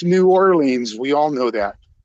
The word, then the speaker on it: New Orleans: pronounce it, it'd be New Orleans. New Orleans. Yeah. New Orle. But it's New Orleans. We all know that it's Nins. You have to stress the leans.